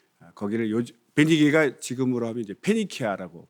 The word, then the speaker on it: 페니키아: 거기를 베니게가 지금으로 하면 이제 페니키아라고 발음하죠.